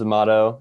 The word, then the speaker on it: Amato: Hans Amato, is that how you pronounce the last name? That it is it, yes.